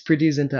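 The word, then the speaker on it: Preity Zinta: yes, Priti Zinta.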